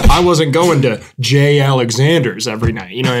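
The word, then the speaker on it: J. Alexander's: where the Savages time first of all it's pronounced J Alexander it's Alex in and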